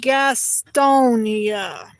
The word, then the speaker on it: Gastonia: Remember the character Gaston from Beauty and the Beast movie? You remember that character? It's spelled kind of like that. Yes. Yeah, well, if you take Gaston's name and you put an IA at the end of it, that's how, yes.